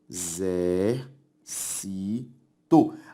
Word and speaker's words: exército: eu separo o exército exer cito a sílaba tônica é a anti penúltima por isso uma palavra proparoxítona se eu separo lâmpada lâ a sílaba tônica é a anti penúltima e por isso lâmpada